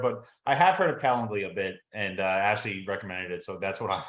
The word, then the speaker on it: Calendly: I'm probably not gonna say it right um calenduli calendly yeah so in that it's been really great